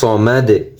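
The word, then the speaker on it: الصَّمَد: দাল পেশ দু, সমাদু সমাদু। আল্লাহুস সামাদ, আল্লাহুস সামাদ। অক্ফ করলে সমাদ। শেষে যদি আমরা ভেঙে ভেঙে উচ্চারণ করি তাহলে সমাদু, দাল পেশ দু উচ্চারণ হবে। যদি অক্ফ করি সমাদ, পেশের উচ্চারণ হবে না।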